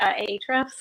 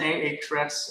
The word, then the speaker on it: Ahrefs: I feel like everybody else pronounces it differently. Ahrefs.